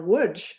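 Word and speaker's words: Łódź: threat to Litzman or Woodge. Now woodj I am pronouncing that correctly but you might see it's spelled L O DZ and in wood my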